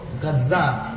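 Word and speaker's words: غزة: বর্তমান গাজ্জা যে অংশে আপনারা গাজ্জা বলেন আর কি আরবি উচ্চারণ হলো গাজ্জা এই গাজ্জার অংশে লিখে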